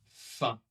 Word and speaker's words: faim: Soif, faim. Donc cette partie-là sera un peu comme un et ici comme ouah, soif.